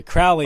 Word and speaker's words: Crowley: Yeah, Crowley rhymes with holy.